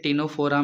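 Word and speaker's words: Ctenophora: से कोई है नहीं बट यहां से सी साइलेंट है टिनोफोरा में ठीक है तो यहां से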